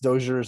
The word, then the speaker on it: Dozier's: when i come out and again it's it's pronounced dozier's and then it's it's full sheer is that